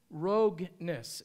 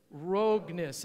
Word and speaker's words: Rogness: down dick dick and Marie rogness rogue-ness say that with me rogue-ness everybody wants to pronounce it differently and Marie have served